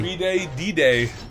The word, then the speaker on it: 3-day: 3-day D-Day. That's exactly how they say it. Yeah. It's 3-day like D-Day.